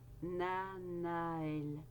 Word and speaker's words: Nanaël: Je vous souhaite une merveilleuse période avec cet ange qu'on prononce Nanaël.